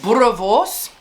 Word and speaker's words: boerewors: But yes, boerewors. You wouldn't expect it to, the way it sounds, the way it's spelled.